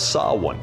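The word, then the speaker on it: Samhain: It all started with the festival of Sawin. And if you're wondering how to spell that, you're wrong.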